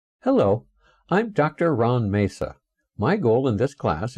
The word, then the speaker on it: Masa: My last name, Masa, spelled M-A-S-A, was originally a Bohemian name. That's now the Czech Republic, where it would be pronounced Masha.